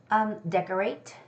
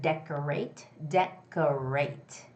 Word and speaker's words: decorate: Decorate, the word decorate. It's the first syllable, the first vowel stress.